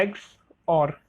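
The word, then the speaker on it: XOR: लेकिन यहाँ पर जो एक्सक्लूसिव और रहता है, ठीक है, इसको हम बोलते हैं एक्स और, ठीक है।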